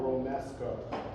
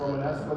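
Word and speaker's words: Romesco: This sauce is called a Romemesco. Romemesco. Often mispronounced Romanesco, which is that cauliflower or steamed punk vegetable in and higherend grocery stores.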